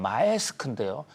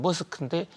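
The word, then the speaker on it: Maersk: 우리는 덴마크 하면 머스크라는 역으로 하면 마에스크인데요 덴마크식으로 하면 머스크인데 일란 머스크하고 발음이 똑같은데 이게 테슬라하고는 아무 관계도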